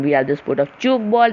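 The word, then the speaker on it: tchoukball: Then we have the sport of choke ball. Remember, tea is silent in choke ball.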